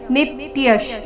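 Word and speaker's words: नित्यः: ಪುರಾಣೋ ಅಜೋ ನಿತ್ಯ ಶಾಶ್ವತೋಯಂ ನಿತ್ಯಶ್ ನೀ ಮೇಲೆ ಆಘಾತ ವಿಸರ್ಗದ ಉಚ್ಚಾರಣೆ ಅರ್ಧಶ ರೀತಿ ನಿತ್ಯ ಶಾಶ್ವತೋ ಶಾಶ್ವತೋ ಶ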